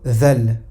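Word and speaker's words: ذال: Et c'est la lettre Dhal, qu'on prononcera The. C'est sur la même base que le Del, si ce n'est qu'on viendra positionner la langue entre les dents, comme si on avait un cheveu sur la langue, comme si on venait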